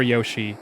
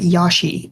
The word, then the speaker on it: Yoshi: So I watched this UK streamer and I found out that he pronounces it Yashi instead of Yoshi.